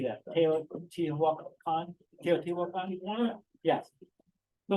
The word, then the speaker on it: Teotihuacan: Teotihuacan?